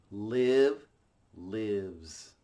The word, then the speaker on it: lives: Live lives. Live lives. Oh, it's kind of like give.